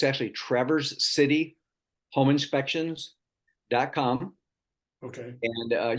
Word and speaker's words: Traverse City: looks like traverse, but it's pronounced Traverse, like you traverse somewhere, but it's actually where we live, it's called Traverse City.